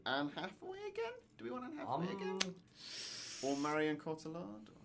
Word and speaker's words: Cotillard: Or Marion Cotillard? Or how do you say her name? I think it's you got it pronounced right. Cotillard.